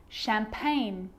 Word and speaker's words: champagne: baked wrapped okay so a g can also be silent too think about the word sign champagne design or foreign all of